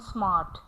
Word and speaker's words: smart: So ra is never pronounced in a word when it is followed by a consonant. Let's see the example. We have park and smart.